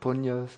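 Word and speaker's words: puṇya: what we call merit in pali we have the word punyas in sanskrit the pronunciation is the same punya in chinese they use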